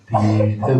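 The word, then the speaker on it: तीर्थ: Bhavad Vidha Bhagavata Tirtha Bhuta. Very clear pronunciation. Tir, again tir all long.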